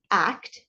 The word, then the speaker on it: ACT: called acceptance and commitment therapy it's actually stated act not act it's pronounced Act and the concept of this does